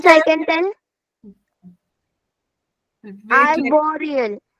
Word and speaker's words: arboreal: Wait, Arboreal. spelling? Miss ARBOREAL.